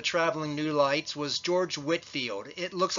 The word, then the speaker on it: Whitefield: One of the more famous of the traveling New Lights was George Whitefield. It looks like it's pronounced Whitefield, but it's actually pronounced Whitefield.